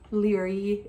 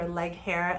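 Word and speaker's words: Laoghaire: I read it, even though you read it phonetically. But that's in there, which is very helpful, especially for characters' names, right? Leary is the one that comes to mind, or Leghair, as some people call her.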